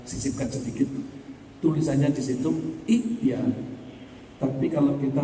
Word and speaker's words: ائتيا: Tapi kalau kita membacanya dari idia, membacanya jadi idia.